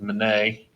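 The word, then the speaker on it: Minié: a man that developed his last name was monet and it gets mispronounced during the war and people start calling these mini balls and you can see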